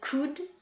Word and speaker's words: could: Attention à la prononciation, certaines lettres sont muettes. Le T de mustn't, le L de could, should et would.